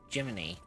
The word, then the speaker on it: Jiminy: And the person who's supposed to be broken is supposed to be Jiminy. Even though it's spelled as Gemini, but it's supposed to be a reference to like Jimny Cricket.